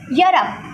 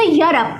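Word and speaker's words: Europe: इन सब में हमारा प्रोनाउंसिएशन जो स्टार्ट हो रहा है वो वाई से हो रहा है, इसलिए यहाँ पे लगेगा ए, because why इज़ not vowel.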